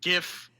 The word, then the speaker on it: GIF: So right here, I have and yes, it's pronounced GIF yep.